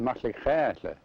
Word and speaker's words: Metlakatla: The name Metlakatla is just, well, it came from old Metlakatla, BC, and Metlakatla is pronounced Metlakatla.